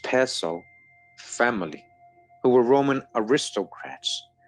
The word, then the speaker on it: Piso: New Testament, the Church, and Christianity were all the creation of the Calpurnius Piso, pronounced Piso, family, who were Roman aristocrats.